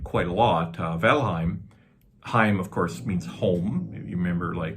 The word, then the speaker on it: Valheim: very popular game name valheim or probably correctly pronounced volheim and and of course